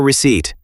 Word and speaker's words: receipt: It's a tricky word. The P is silent.